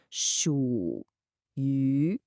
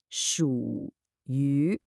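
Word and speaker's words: 属于: Notice the dipping third tone on the first character and the rising second tone on the second. 属于, 属于.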